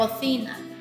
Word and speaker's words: cocina: 以成个字应该系读 cocina。